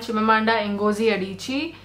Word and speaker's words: Chimamanda Ngozi Adichie: Is Americana by Chimamanda Ngozi Adichie. It's okay. I didn't even know how to pronounce her name. She's called Chimamanda Ngozi Adichie, and I did read Americana, and I absolutely loved it.